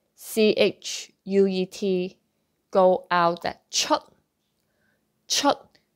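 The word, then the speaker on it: chuet: Okay, so other words end with T, so like C-H-U-E-T, go out that chut, chut, so don't pronounce that T, chut, no T, chut, chut, chut.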